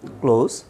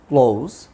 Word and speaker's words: clause: Students, এখন আমরা যেটা জানবো, ক্লোজ, CLAUSE, ক্লোজ। There are 3 kinds of close. Close উচ্চারণটা হচ্ছে ক্লোজ।